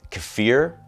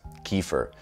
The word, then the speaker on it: kefir: Now, I always thought it was pronounced kefir, but I just learned it's kefir, which just makes me think of Kiefer Sutherland, so yeah, weird.